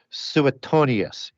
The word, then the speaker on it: Suetonius: one is uh as a Roman named uh suetonius s-u-e-t-o-n-i-u-s and another one is phallus and there's